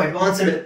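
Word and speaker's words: advanced: ನಿಮಗೆ 100% ಪ್ರೊನೌನ್ಸಿಯೇಷನ್ ಸಿಗುತ್ತೆ ಇಲ್ಲಿ ಟಿ ಕೊಟ್ಟಿದ್ದಾರೆ ಟಿ ಟಿ ಅನ್ನೋ ಉಚ್ಚಾರಣೆ ಇದೆ ನಾವು ಅಡ್ವಾನ್ಸ್ಡ್ ಅಂತ ಹೇಳಬಾರದು ಅಡ್ವಾನ್ಸ್ಡ್ ಟಿ ಹಾಕ್ಬೇಕು ಅಲ್ಲಿ ಓಕೆ ಸೊ ಇದು ಅಡ್ವಾನ್ಸ್ಡ್ ನಾನು ಹಾಗೆ ಕನ್ನಡದಲ್ಲಿ ಹಾಕಿದ್ದೀನಿ ನೋಡಿ ಅಡ್ವಾನ್ಸ್ಡ್ ಅಡ್ವಾನ್ಸ್ಡ್ ಟಿ ಹಾಕ್ಬೇಕು ದ ಅಡ್ವಾನ್ಸ್ಡ್ ಅಂತ ಬರಲ್ಲ ಓಕೆ ನೆಕ್ಸ್ಟ್ ನೆಕ್ಸ್ಟ್ ನೋಡಿ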